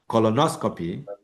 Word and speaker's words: colonoscopy: When you say something like colonoscopy, tracheotomy, and then biopsies, okay? Now, the stress fall two syllables before these words ending.